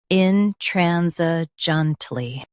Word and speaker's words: intransigently: Stress tran, keep s soft, and say junt smoothly.